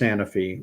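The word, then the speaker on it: Sanofi: not how mRNA Works s sany or sanfi I think it's pronounced sanify received the first license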